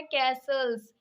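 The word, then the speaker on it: castles: Yes guys, इसकी जो सही प्रोनाउंसिएशन है वो है कैसल्स।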